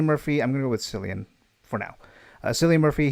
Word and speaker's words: Cillian: uh portrayed by uh some people pronounce his name either Killian or Cillian Murphy so Celia Murphy I'm gonna go with Cillian for now uh Celia